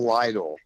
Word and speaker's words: Lytle: van is angelus and my name is dale lydol and a lot of people um mispronounce it so i want to